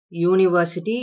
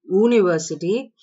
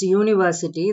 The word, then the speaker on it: university: because the first vowel is not the letter u that you see in the word university the first sound is ya university you don't say university it's university therefore it is er sound um which is a consonant so it is not a vowel and the first vowel